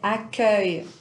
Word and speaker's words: accueil: un son qu'on n'a pas un portugais c'est accueil accueil va prononcer un saint lô plus ouvert mélangez avec